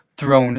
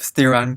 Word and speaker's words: Theron: and what's interesting about her is that her first her name was originally pronounced Throne instead of Theron because she moved to America and it's Theron sounded more American although I don't know